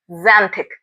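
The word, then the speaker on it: xanthic: The word is जेंथिक। आप उसे note down कर लें।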